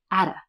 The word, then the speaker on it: out of: Next, when Rachel says she could be out of town, this is out of, but she's not pronouncing it like that. She's saying atta.